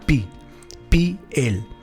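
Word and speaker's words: pi'el: el verbo hebreo es el verbo piel piel como la piel que tenemos la diferencia es que lleva un guion en la palabra pi pi el este verbo se traduce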